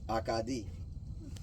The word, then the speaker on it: Acadie: The word Cajun kind of started as where they came from in Nova Scotia, Acadia, pronounced in French, Acadie.